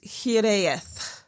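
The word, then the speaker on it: hiraeth: I'm still not very good at it, but it's hith.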